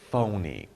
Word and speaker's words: phony: PH is pronounced as ph, phony.